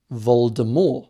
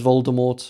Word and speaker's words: Voldemort: Voldemort had originally planned for the name to be pronounced Voldemort with a silent T.